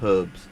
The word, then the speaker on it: herbs: I still never get why Americans call herbs herbs. Like, why they don't pronounce the H, but, you know, who am I to judge?